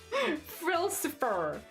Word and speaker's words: Frilsifer: It is ill, like frill, and then siffer. Frilsifer. Like Frilsifer.